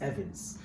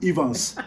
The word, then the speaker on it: Evans: is like no no that's not how it's pronounced here it's evans so listen so for all you guys watching my room name is evans it's not ever we just got tired of